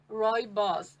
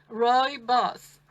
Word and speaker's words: Rooibos: how we pronounce it it's basically like roy and his boss roy boss unless roy is a boss but roy boss repeat after me guys roy boss and uh so most